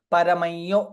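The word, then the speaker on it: परमं यो: Hence it is paramayyo. Everywhere it is paramayyo, paramayyo, paramayyo, paramayyo mahattejah, paramayyo mahattapah, paramayyo mahadbrahma, paramayyah parayinam. That is the first one to note. Paramayyo, that is how it is pronounced.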